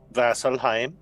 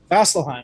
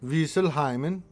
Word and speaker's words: Vasselheim: Vasselheim. Vasselheim, that's the one. Wieselheimen. Oh, well, I don't think that's how you pronounce that word.